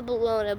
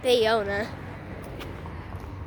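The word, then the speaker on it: Ballona: Ariana Wetlands or La Bellona but they pronounced it bayona they actually told us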